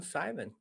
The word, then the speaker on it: Simon: Is it Simone? It's actually Simon because I'm from Austria, and so as a male in Austria, Simon is pronounced Simon, and a female is Simone.